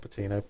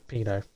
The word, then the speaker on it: Pino: Sorry, not Patino, Pino. The T is silent.